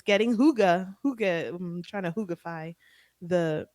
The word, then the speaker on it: hygge: So hygge is spelled Hygge because it's a Danish word and we don't understand those letters together, but it's Danish, right?